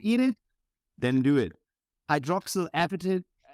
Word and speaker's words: hydroxyapatite: if you would eat it then do it hydroxyl appetite how do you say it in English hydroxyl appetite I was saying hydroxyapatite yeah hydroxy advertise what I would say too